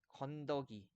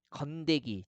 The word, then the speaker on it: 건더기: 왼쪽에 덤터기, 아지, 랑이 이렇게 나와 있는데 이런 단어들의 이모음 역행동화를 적용해 가지고요. 가랭이, 건데기, 덤태기, 아지, 랭이 이렇게 잘못 발음하고 쓰는 경우가 많은데 다 틀린 말이에요.